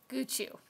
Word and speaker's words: Goochoo: illustrated by Irvine metel how did you pronounce that again this yeah guu when I first heard her say the name of this book I heard Gucci no not a purse yeah nice simple illustrations